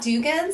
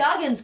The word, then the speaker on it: Duggins: It's not Dugans. No, it's Duggins.